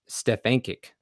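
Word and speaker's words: Stefancic: by Richard Delgado, and Stefankic is the way I looked up on how to pronounce her name, which I'm sorry if I mispronounced that.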